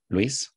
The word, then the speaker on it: Luis: name is Luis you can pronounce my my first name Luis and uh well I'm